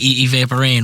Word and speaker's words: Evaporeign: so go for it let's see is it evaporating right oh yeah spell it out it's gonna be e VA p